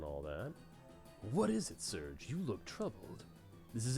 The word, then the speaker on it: Serge: I always said Serge. I know some people were like, oh, it's Sergey or Sergi or other things. I'm just going to say Serge, like a wave, because that makes sense to me.